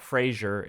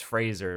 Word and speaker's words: Fraser: Not Frasier. It's Fraser. Apparently, that's how you say it right.